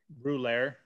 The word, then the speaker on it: Rouleur: So what is the pronunciation of that? Rouleur.